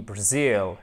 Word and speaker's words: Brazil: D'ailleurs, on dit comment le Brésil? On dit Brazil ou Brazil? Non, on dit Brazil, et c'est vraiment très marqué là. Hein. Si vous vous trompez d'accent tonique, là c'est foutu, le mot ne veut plus rien dire pour la personne qui